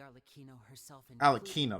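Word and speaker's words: Arlecchino: prophecy all of us house members here lady AR alino that's how you say her name okay we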